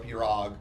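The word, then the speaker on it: pirogue: People acted like we walked in their house and slapped their mom just because we said there's two different ways to say Piro or Pirog, which there is.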